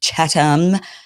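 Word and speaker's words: Chatham: He makes fun of my Yesterday I was saying Catham House rules. Apparently it's Chattam.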